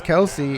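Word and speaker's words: Kelce: the offseason apparently travis kelsey informed i believe it was the espn or sports illustrated that everybody has been pronouncing his name wrong since he came into the league it's actually travis kels really yes a little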